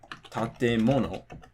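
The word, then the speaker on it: 建物: For example, the word tatemono, right? So this is 4 syllables, it's nakadaka, but it can be pronounced with the drop after the te or after the mo.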